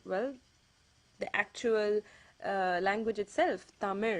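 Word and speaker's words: தமிழ்: the l sound so they instead say tamil or palam or walai you know i mean it's okay you can live with that but the correct way of pronouncing it is tamir another word is the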